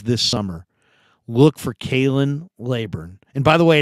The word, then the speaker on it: Laborn: watch the Niners this summer look for Kailyn laburn and by the way it's not labourne his dad doesn't want it pronounced Le born his name is Kalyn laburn and he's a tough kid he's a respectful